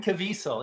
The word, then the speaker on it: Caviezel: Jim Caviezel.